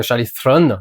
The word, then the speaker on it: Charlize Theron: Lupita Nyong'o, Zendaya, Charlize Theron, Charlize Theron, c'est comme ça que ça se prononce.